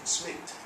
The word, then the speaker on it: Psmith: Spelling of his name, Smith, is PSMITH.